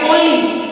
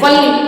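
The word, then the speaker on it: only: यानी कि वन वनस लेकिन ओ एन ए वा ओनली ओनली होता है ना कि वनली वहां पे हम वनली नहीं पढ़ेंगे ओनली पढ़ेंगे लेकिन यहां पर ओ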